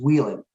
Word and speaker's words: Whelan: a debate yeah well the way the Irish will say it is Wheeling right and my grandmother